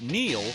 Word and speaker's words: Neil: It's no coincidence that Neil rhymes with deal, because that's something you could always count on with the leader in tires and auto repair for nearly a century.